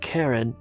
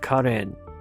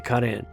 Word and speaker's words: Karen: And by the way, that's the way you pronounce it. It's not Karen, but Karen. There is no Karen in Armenian. So it's only Karen.